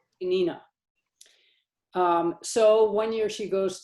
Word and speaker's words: Peninnah: She even remains patient and offers no ill will toward her tormentor, who is, how did you pronounce her name? Peninnah. Peninnah.